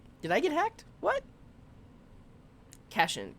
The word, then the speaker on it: cation: Cation. Cat ion. Positively charged ion. Yeah. So I'm not familiar with that term, and that makes sense if that's how you actually pronounce it, cation.